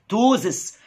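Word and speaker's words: ptosis: اليفيتد يقع من مكانه توزس، وخلي بالك البي سايلنت ما بتنطقش، ما تعرقش، نص وشك يعرق والنص البايظ ما يعرقش، ان هايد روزس.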